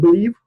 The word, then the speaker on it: Bliive: so they are from Billy a brightly pronounced belief right yeah you spell it